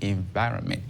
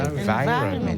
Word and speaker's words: environment: Donc multi-tasking is often required in a fast-paced office environment. Environment, on ne dira pas environment. C'est environment. Environnement. Ça s'écrit exactement comme en français, mais on dit environment.